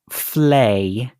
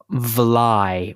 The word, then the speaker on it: vlei: it's dutch it's dutch it can also be pronounced fle or vly or fly sure yeah I can